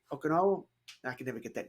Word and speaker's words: Okonkwo: Okanowo. I can never get that name right. Chig Okonkwo was that? Chig. We're going to call him Chig. Okonkwo.